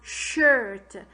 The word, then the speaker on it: shirt: The R is controlling the vowel and is making us saying as like letter U, like the letter U.